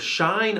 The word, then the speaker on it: shine: my flashlight shine and the sounds of shine are sh I N Shine and you might notice that you don't hear the e at the end of the word because this is the final silent E and it's jumping over the letter N to make the letter I say its name the next word on